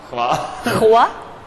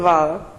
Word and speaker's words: hvala: Okay, hua, Hvala. Hvala. hvala. Because you have the pronunciation like deeply from the throat.